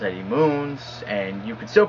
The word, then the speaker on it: Eddie Munes: it Eddie moons you know I've heard it Eddie muns Eddie munz um I've even heard it pronounce Eddie Money which I I think it's the best one but now you guys know it's pronounced Eddie moons and you could still pronounce it the way